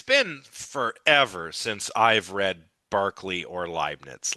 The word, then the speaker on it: Berkeley: Well, Berkeley, or Barkley, I guess is how it's actually pronounced.